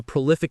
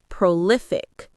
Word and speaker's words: prolific: It has three syllables: pro, liic, prolific. The stress is on the middle syllable, li, so it's prolific.